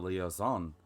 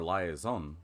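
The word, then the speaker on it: liaison: volunteered to be the leoon or liazon depending on how you say it I always say leoon between the two companies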